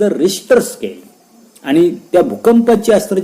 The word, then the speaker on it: Richter: किती रिश्टर स्केलचा भूकंप आहे तर त्याची नोंद त्या ठिकाणी आपल्याला आकृतीमध्ये 10.30 दिसते.